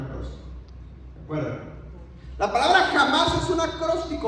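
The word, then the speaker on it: חמאס: Pero miren, la palabra en hebreo es jamás, se escribe así. Jamás. Jamás. Pero se pronuncia así. Jamás.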